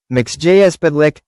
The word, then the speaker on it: Mxyzptlk: Mister Mxyzptlk, pronounced Mix-yez-pit-lik, Mix Yez Pit L